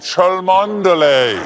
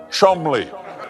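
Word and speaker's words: Cholmondeley: The Martioness of Chelmander. What a beautiful name that I'm being told right now that I pronounced incorrectly. It is in fact pronounced Chumli. Now, there have been rumors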